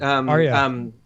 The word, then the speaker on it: Arya: I did definitely think the Arya, is that how you say it? Arya.